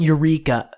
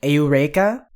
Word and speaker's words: Eureka: is like that so the EU is supposed to be pronounced like an au sort of thing Au those syllables separately